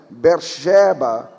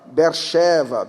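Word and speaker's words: באר שבע: Tem muitas palavras na Bíblia, no português nós pronunciamos si, mas na verdade é shi, Saul, Shaul, Siló, Shiló, Beersheba, Beersheva, Betseba, Beersheva.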